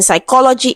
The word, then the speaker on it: psychology: PS in psychology is S.